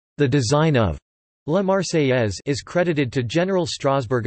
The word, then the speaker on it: La Marseillaise: La Marseillaise, French pronunciation, La Marseillaise, became the national anthem of France.